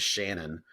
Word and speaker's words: Chanon: And I feel like a dummy because I cannot remember his last name, but his first name is Shannon, but it's spelled Chanon.